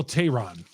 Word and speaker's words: Teheran: inning and could not hold it but Julio Tehran right off the top Julio yeah I said